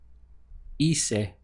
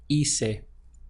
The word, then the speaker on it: hice: So to say I did, it would be hice, hice. Again, the pronunciation starts here from the I, which as we know is always pronounced as an E in Spanish.